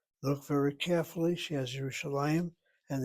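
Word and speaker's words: ירושלים: She has Yerushalayim and the accent over that lamed. The lamed is a patach underneath it. Patach is a short vowel. Open syllable gets accented.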